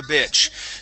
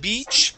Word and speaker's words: bitch: So let's go to poor son of a bitch. So instead of beach, okay, that's going to be a short I sound.